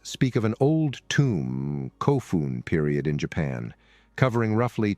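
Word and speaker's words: 古墳: Despite the word's pronunciation as kofun in Japanese and kobun in Korean, the same two Chinese characters appear in both forms.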